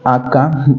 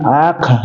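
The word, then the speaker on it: aqha: ejemplo no e lingüísticamente si uno va a ir a pedir chicha tiene que decir aka no Ah señora cora sería No dame chicha le estás diciendo no pero si pronuncias aca Eso significa caca ya Entonces tienes que pronunciar bien aca ya si tú le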